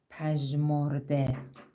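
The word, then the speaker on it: پژمرده: telaffuz etmiyoruz Bir önceki harfin altında e sesi ekliyoruz ve şu şekilde pee telaffuz ediyoruz pej morde zaten Farsça Türkçe müşterek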